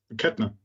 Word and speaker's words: Kettner: I wanted to make but how would you pronounce that in German? Kettner.